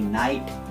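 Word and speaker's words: knight: জার্মানরা কিন্তু এই যে খেটার উচ্চারণ করে, ইংরেজিতে সিম্পলিফাই করার জন্য খেটাকে সাইলেন্ট রেখে এই নাইট এইরকম ভাবে উচ্চারণ করা হয়।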